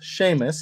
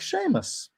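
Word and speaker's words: Seamus: alex my kid yes my name is sheamus it sounds like sheamus i get it and dana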